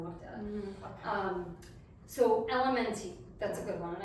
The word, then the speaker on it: LMNT: It's called Element, but it's Say based, Element. I know you don't, no, I did the same thing, because LMNT is what the Yeah. company is called, but it's pronounced Element, but it's LM.